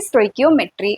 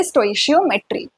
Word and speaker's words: stoichiometry: Topic का नाम है स्टोइकियोमेट्री या फिर स्टोइशियोमेट्री। ठीक है, जैसे भी आपको प्रोनाउंस करना हो आप कर सकते हैं।